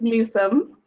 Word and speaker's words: Nusum: bio okay so my my maiden name is Newsome which is spelled and us um so it's a little bit different than how most people think itself and I am